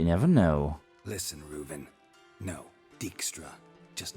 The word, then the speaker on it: Dijkstra: me oh you never know listen reuven no dickstra just not in the mood for your code